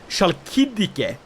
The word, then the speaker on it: Chalkidike: So, the holding I'd like to control is this one, the Tourma in Chalkidike. Or the Chalkidike. That's how you say it.